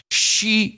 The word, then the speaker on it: Xi: offering a pronunciation note the X sound or the z sound in China is unvoiced and sounds similar to the English if spoken through a Grimace or wide smile let me try okay